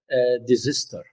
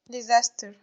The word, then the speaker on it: disaster: I heard someone also saying desister. Is that the correct pronunciation, desister? يعني خلاص هندلع الديزستر تبقى ديزستر كده. Okay. سهيلة. Disaster.